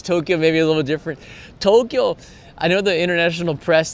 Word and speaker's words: Tokyo: Tokyo, I know the international press, they like to say Tokyo. It's actually pronounced with 2 syllables.